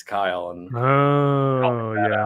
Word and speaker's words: Kiel: But the fact that my name is spelled Kiel and it's Kyle and helping Oh, that yeah.